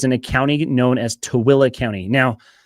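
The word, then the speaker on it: Tooele: This entire region is in a county known as Towilla County. Now, it's a really difficult word to read and pronounce. It's t o e l e pronounced t toilla.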